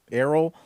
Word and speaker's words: Errol: Errol Musk. It's quite a name. It's like the way like a person that's like well versed in Scotch would describe it. He's like, it's got an Errol Musk to it.